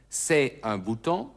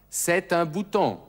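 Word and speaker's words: c'est un bouton: das ist ein Knopf das T von C wird mit ein verbunden also nicht se ein Buton sondern Set bouton das nennt man eine Bindung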